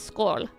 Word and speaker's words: skål: The word for chairs is skål. Skål. Which is not written with an O.